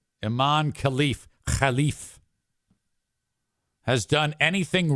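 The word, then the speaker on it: Imane Khelif: wrong by the way I got the pronunciation of that online and that actually is correct if you want to pronounce it like U you're an American you'd say imain KF but who wants to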